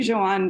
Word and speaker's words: Joan: very close it's actually joanne because he's from catalonia so it's a the catalan pronunciation um and we went